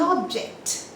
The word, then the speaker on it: object: So the stress is on the first syllable if it is a noun, on the second syllable if it is a verb.